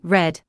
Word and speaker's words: read: Read, B. Reads, or C. Reading? The answer is A. Read. Read is spelled the same in present and past, but pronounced differently, read in past.